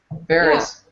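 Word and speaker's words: Faris: Am I saying her name wrong? Yeah. it's Ferris? Ferris.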